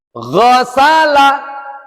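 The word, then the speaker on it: غَسَلَ: tidak tapi laqoba Falaha Ghosala Gho, ada e nya. Ghosala Ghosala, kalau tidak ada e, ada sedikit-sedikit kasar-kasarnya, maka itu masih belum tepat makhrojnya.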